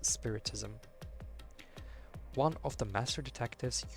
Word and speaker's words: spiritism: For some reason I want to pronounce that as spiriticism, but no, it's spiritism.